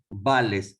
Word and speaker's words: Bales: Robert Bales se escribe, con B larga. Bales. Como Bale, el que juega del Real Madrid.